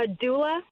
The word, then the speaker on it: doula: being a what did you call it a doula is spell that for me so d-o-u-l-a doula okay great